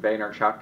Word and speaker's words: Vaynerchuk: off of the when I when I said Boehner Chuck gets very phonetically it's very perfect to me but the